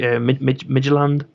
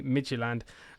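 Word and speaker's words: Midtjylland: it educate me it's i think it's pronounced actually midgeland micheland okay i'm i'm bang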